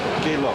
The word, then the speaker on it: Geilo: And you pronounce it Geilo. Galo.